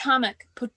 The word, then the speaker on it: Potomac: Potomac.